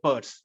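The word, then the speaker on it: Peirce: Charles sers Pur R yes that's good CS Pur okay the name is pronounced Pur so he came up with semiotics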